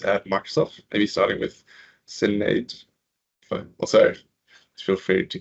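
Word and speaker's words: Sinéad: So Sinead, like lemonade, but there's a invisible H in between the S and the I, which is very confusing for almost everybody who tries to pronounce the name.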